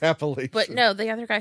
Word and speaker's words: Appalachian: Because I watched this stupid TikTok and they were fighting over how to say it and now it's one of those things that stuck in my brain and I'm like, "Wait, Appalachin. Appalachian." I think it's Appalachian.